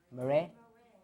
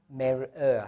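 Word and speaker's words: מַרְאֶה: Mare? You say mar, like an A? Yeah. I think most people are pronouncing it mare. Mare. But it's mer-er, I believe.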